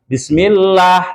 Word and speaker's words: Bismillah: Jadi pada awalnya, jangan dibaca tebal-tebal, Pak. Contohnya, Bismillah. Bismillah sudah kental. Bismillah sudah kental. Bagaimana seharusnya? Bismillah saja, bukan dibaca Bismillah seperti itu.